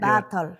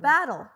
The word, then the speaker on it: Bartl: Wait, that's how you say it? Bartl. Yeah. Bartl. Battle. Not battle. Bartl. Like water bottle.